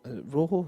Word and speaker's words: Rojo: well um vanal did say that uh Ro Rojo is that how you pronounce it yeah um he Rojo speak English